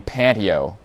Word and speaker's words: Panteo: I'm partnering up with I always want to call them Panteo, but they pronounce their name Panteo.